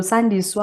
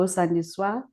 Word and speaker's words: Sandiswa: tenses in corsa so san diego is how you say my name but most people would go saniswa and that just changes